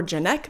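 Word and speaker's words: Janiak: I believe her name is pronounced Lee Janek, or Janek maybe, but she was the director of the Fear Street trilogy.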